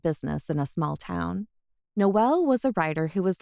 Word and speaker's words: Noel: I was expecting Noel, like Christmas, not a null, like null and void." "No, it's not like null. Noel rhymes with coal, but it is spelled Noel.